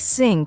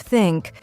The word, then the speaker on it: think: native language for example the th sound in words like think and this many Learners pronounce it as s or Zed like syn instead of think or ziz instead of this that's a class